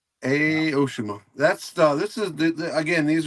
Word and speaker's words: Aoshima: Oshima. Aoshima. Aoshima.